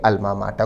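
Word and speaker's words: alma mater: दान करते हैं अपने अल्मा माटा को विद्यार्थी इस शब्द पर भी ध्यान दें शब्द का उच्चारण है अल्मा माटा अल्मा माटा का अर्थ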